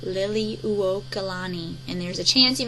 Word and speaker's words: Liliuokalani: It's a lot of syllables here, but it's Liliuokalani, and it's pronounced Liliuokalani.